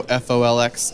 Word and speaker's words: folx: kind of program guide called folks which is spelled F oh L X if you go to folks folks org so folx folx org you can learn more